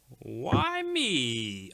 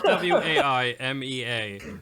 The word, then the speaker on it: Waimea: brewery I've got the why me IPA well I I don't know if it's why me or not but it's w-a-i-m-e-a so I'm choosing to pronounce it as why me why me he is